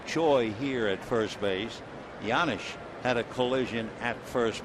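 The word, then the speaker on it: Janish: second base two out yanish trying to pick it up B spells had name name j a n i h and the J is not produced or pronounced yanish right hand hitting catcher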